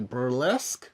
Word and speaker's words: burlesque: I never know how to say this properly, burlesque? You nailed it. It's burlesque, okay.